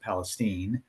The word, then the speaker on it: Palestine: our contractor in uh Palestine, Texas. Now, I know it says Palestine, but in Texas they pronounce it Palestine.